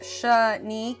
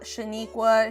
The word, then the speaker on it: Shanik: It's pronounced Shanik. It's not Shaniqua, Shanene, Shanik. No, it's Shanik.